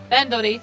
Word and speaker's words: Bandori: Bandori.